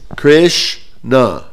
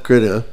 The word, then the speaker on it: Krishna: It's Krishna, 2 syllables. 2 слога. Кришна. It's not Krishna.